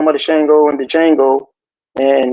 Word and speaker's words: Django: I know I was talking about the Shango and the Django, and remember he said Mhm. he said the D is silent.